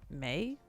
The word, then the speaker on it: Mai: It's May. It's pronounced May. No, it's May.